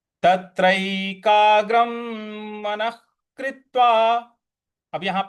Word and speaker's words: मनः कृत्वा: और विसर्ग जो है उसके आगे, विसर्ग के आगे क है तो वहां पे ख का उच्चारण लाएंगे।